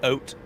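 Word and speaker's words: haute: Actually they don't even pronounce the h. It's just oat.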